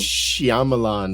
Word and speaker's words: Shyamalan: Exactly how it's spelled, man. Get it together. Shyamalan. Yeah, well, there's a Y in there. You can't read. Shyamalan. Wow. It's Shyamalan.